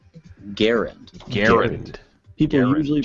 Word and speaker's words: Garand: this classic World War II rifle's name as Garand it's actually pronounced Garand Garand gar people usually pronounce the name of this